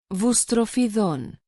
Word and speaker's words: boustrophedon: Originally written horizontal lines, either from right to left or alternating from right to left and left to right, called boustrophedon and pronounced boustrophedon.